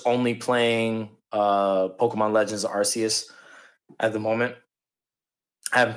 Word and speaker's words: Arceus: playing uh pokemon legends arceus at the moment i haven't picked up anything is it the arceus because i still pronounce rc so i'm with you